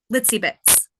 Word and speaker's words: Litzi Bitz: TZ oh cute okay pronounce kind of like a little bit it's also my clown